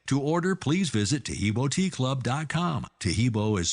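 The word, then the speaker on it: Taheebo: Oh, that's Tahibo, and then continue with the word tea, and then the word club.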